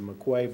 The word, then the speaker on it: McQuay: chillers at Blackmon hi it's a maquette pronounced McCabe way it's a mcquay brandon has performed flawlessly